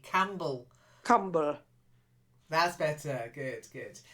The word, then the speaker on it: Campbell: the beginning and then a silent P Campbell okay I I it's a